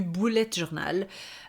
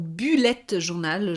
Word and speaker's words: Bullet journal: ai parlé donc du Bullet journal ou bullette journal je sais que certaines personnes le prononcent comme ça si tu ne sais